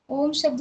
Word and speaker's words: ओम: अब इसे ओम शब्द का उच्चारण भी कुछ लोग सही तरीके से नहीं जानते हैं। सबसे पहले कैसे करना है? ओम शब्द में ओम शब्द तीन शब्द से मतलब मिलकर बनता है। आ उ मा तो हमें तीनों का प्रयास करना है।